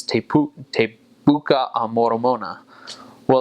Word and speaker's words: buka: Well, that word buka, B-U-K-A, it looks like book, but it's actually pronounced puta. So the B has a P sound, and the K has a T sound.